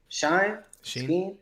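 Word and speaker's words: Chine: of which guy what shine what'd you call him it's pronounced sheen apparently a c-h-i-n-e i think oh where is he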